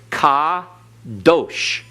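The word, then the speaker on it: קדוש: Accent on last syllable, because in Hebrew, the accent is on the last syllable unless otherwise indicated. All right? Kadosh. Everyone? Kadosh. Notice you have a kametz under the kof, and you have a holem wow, giving us the O sound.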